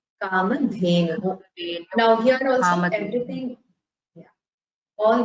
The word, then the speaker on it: Kamadhenu: Both should have Mahaprana. You should pronounce it with the Maithili, Kamadhenu.